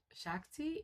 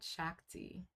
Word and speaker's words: shakti: And in Indian culture, it's um shakti. If I'm saying it wrong, please correct me. Um in Hindu philosophy, feminine beauty represents cosmic energy. The divine feminine is called shakti.